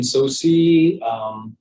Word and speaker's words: Tsosie: T is silent. Okay. Like the way to say it, Tsosie. So kind of like the Chinese way of so. Okay. So just a T and S make a sound, but English way is Tsosie, no T.